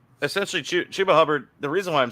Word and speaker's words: Chuba: It's Chuba.